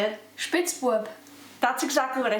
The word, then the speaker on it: Spitzbube: This is the Spitzbube.